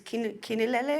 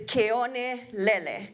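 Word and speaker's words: Keonelele: Kionelele, I think a lot of people say it incorrectly nowadays, Kinelele or something. Yeah. What is the incorrect? Most people refer it to another. You guys know what it's called? Some people say it wrong. How? Kinalele, right? But it's Keone-lele, okay? The flying sands, Keone-lele. So in that alone, that story tells you, right?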